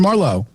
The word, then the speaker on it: Marlowe: our good buddy cameron marlowe and it's uh how you pronounce this the emphasis was on the wrong syllable right there cameron marlow marlow first of all i